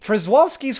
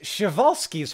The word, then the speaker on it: Przewalski's: Przewalski's horse is not pronounced like that. It's pronounced Przewalski's horse.